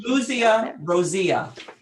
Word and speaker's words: Clusia rosea: Clusia rosea. Clusia rosea. CLUSIA rosea. Clusia rosea. Excellent. And then speaking of spelling and pronunciation, I just wanted to check.